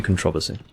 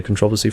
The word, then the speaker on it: controversy: It's an O, not an A. Didn't think about that. Just realised. So therefore it would be controversy.